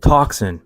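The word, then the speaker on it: τόξον: I also may be looking too far into this, but I also find it interesting that the word here in the Greek for bow is pronounced toxin.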